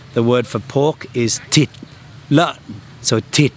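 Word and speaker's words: thịt: In the north, the word for pork is tit. So tit t hi t actually means meat. So any meat. Titbar is beef. Titbar. uh titl is pork but in the south in Saigon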